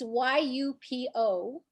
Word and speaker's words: YUPO: So I also was interested in, and I couldn't catch what you said, UPO, what the material was. Could you spell that? It's YUPO.